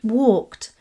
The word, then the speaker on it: walked: The end sounds like t. This is because the K at the end of walk is what's known as an unvoiced sound, and verbs in this group are pronounced with the t at the end. Walked, not walked.